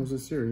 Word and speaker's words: Siri: Jose Siri? Is that how you pronounce it? Oh, Jose Siri, yeah.